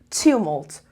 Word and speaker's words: tumult: So tumult, the first level.